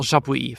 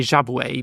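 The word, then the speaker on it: Jabouille: iners Ireland Eddie Irvine Chris Irwin Jean pel jaab for ages I used to say jab but yeah it's meant to be jaab Jimmy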